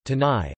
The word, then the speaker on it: canai: Roti canai pronunciation, tanai, also known as roti cane, tane, or roti prata, is